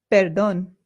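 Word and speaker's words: perdón: Perdon peron. Remember that the accent in Spanish indicates where the stress in the word is. So this is not peron it is peron and this also means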